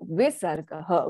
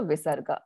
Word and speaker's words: Visarga: When it is in its akara, with the it is pronounced as aha. So Visarga is an aspirated sound. It is the pushing out of breath, right? And it takes on what happens, that ha takes on the sound of the vowel of the